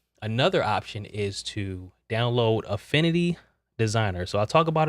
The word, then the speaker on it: Affinity: it's called Affinity designer Affinity not Infinity but you'll see how